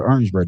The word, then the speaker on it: Orangeburg: In South Carolina, we call it Orangeburg. Not Orange. Orangeburg.